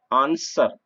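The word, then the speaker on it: answer: यह डब्ल्यू आर है तो यहां पर डब्लू साइलेंट रहेगा हैं नेक्स्ट एनएसडब्ल्यू यार आंसर उत्तर तो एप्स डब्लू इसका डबल साइलेंट न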